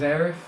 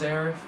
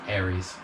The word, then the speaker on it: Aerith: it came up as Aeris. Oh, fair enough. But I admit, when I was a child, I used to pronounce it as Aries until I got a bit older.